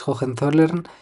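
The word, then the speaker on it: Hohenzollern: de Jen zollern que para que recordéis jogen zollern podéis pensar en que le llamaban en esa época Leopoldo de oleole si me eligen porque la gente no sabía pronunciar jogen zolen oleole si me eligen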